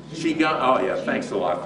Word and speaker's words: Qigong: studies in traditional Chinese medicine and Chinese medical Qigong, I think I'm pronouncing that correctly, therapy. Qigong. Qigong, oh yeah, thanks a lot for spoiling my day.